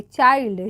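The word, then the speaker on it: child: चाइल्ड। चाइल्ड means बच्चा होता है। चिल्ड नहीं।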